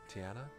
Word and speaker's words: Tiana: Charlotte lauff she said to uh Tiana she Tiana Tiana that's how you pronounce the name Tiana she said oh aren't